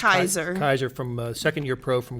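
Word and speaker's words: Keizer: Yep, I think it's Nick pronounced Kaiser.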